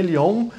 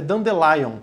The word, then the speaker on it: Dandelion: chamada dando o lyon tem gente chama de lyon mas na verdade a pronúncia é do the lion que na tradução é